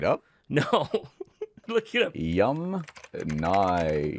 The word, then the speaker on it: Yamnaya: Yum Nai. Okay, so the Yum Naya people, not Yum Nya.